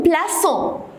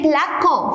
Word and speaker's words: plaçons: Nous plaçons. Pourquoi j'ai mis un CD? Parce qu'il y a ONS. Alors, si je ne mets pas le CD, on va la prononcer plaquant.